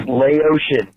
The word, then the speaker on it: Laotian: eclipse in this collar hey dick start it's pronounced Laotian they're not from my rash they're from Laos